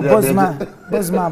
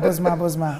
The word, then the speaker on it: Bozoma: So people say Bozoma and No. Bozoma. Bozoma. That's Bozoma. A Ghanaian pronunciation.